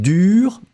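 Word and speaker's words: dure: a in the end pronunciation will be exactly exactly the same so whether it's the masculine dur feminine form dur same pronunciation what is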